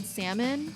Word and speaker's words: salmon: for example the word salmon he pronounces the l so he'll be like you want some salmon they'll make daddy the l is silent he's like that doesn't